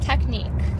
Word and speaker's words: technique: And when you pronounce the word technique, do you pronounce those two letters or are they classified as silent?